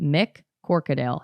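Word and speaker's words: McCorquodale: row mercadale McCord weight I think I've been saying his name wrong this entire time which I don't give a about because this guy but Mick corcadale his name is Mick corcadale Mick workadale mccorked ale was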